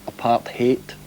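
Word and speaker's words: apartheid: on that subject but I think it's a Dutch word and I think the cor the correct way to say is apart hate and emphasis on the hate so it's been it's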